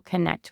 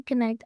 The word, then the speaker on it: Kinnect: So I recently launched the Women in Wealth division at Connect Financial, and Connect is spelled Kinnect. So not like connect, but connect.